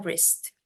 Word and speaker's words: wrist: Oke on my wrist ini w-nya baca wrist bacanya w-nya dihilangin terus bacanya wrist berarti a or b